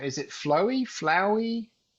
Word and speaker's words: flauwy: And then the spelling is just pure German direct spelling as we would spell it in German. So it's a bit strange for an English speaker. It would probably be better spelled with an OU, I guess, rather than AU. But 100% you will never